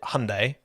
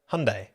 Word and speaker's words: Hyundai: The British pronounce it wrong. The Americans pronounce it wrong. Americans pronounce it Hyundai. British pronounce it Hyundai. But the Koreans pronounce it Hyundai. Hyundai. Hyundai, Hyundai, Hyundai. It's kind of like in the middle.